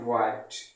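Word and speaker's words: what: देख लीजिए, original pronounce इसका ये है, बट लोग इसका सही प्रोनाउंस नहीं करते हैं। बहुत लोग भाट कह देते हैं, बहन कह देते हैं, भाई। देखिए, क्या कोई भाई है किसी का? ना तो ये किसी का भाई है, ना तो ये किसी की बहन है। लोग ऐसे ही प्रोनाउंस करते हैं। ये भैया बिल्कुल गलत है।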